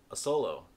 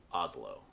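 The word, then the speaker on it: Asolo: easily pronounced as cool this italian shoemaker is a brand that i actually started out mispronouncing because i believed it was called a solo but it is actually pronounced oslo that same shoe manufacturer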